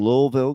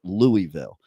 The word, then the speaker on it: Louisville: in Louisville Kentucky I I keep trying to say it right I think I'm saying it right now but probably not uh like I grew up with Louisville but I have to learn how to put that invisible L into the word okay uh but the